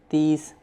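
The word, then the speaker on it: تیس: First say un and then say tees. Untees. In number 29 follow 30 which is tees. Therefore we say un and tees. 30 tees. Tees with soft sound of T like in Arabic and Spanish language.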